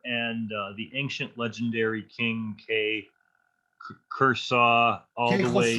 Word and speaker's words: Khosrow: So from the stages of humanity, so from Zoroaster and the ancient legendary king Kursaw all the way. Khosrow, yeah. I never knew how to pronounce that correctly.